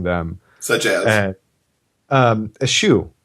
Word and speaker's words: eschew: Eschew. I always pronounce that askew, and that is, an alternate pronunciation.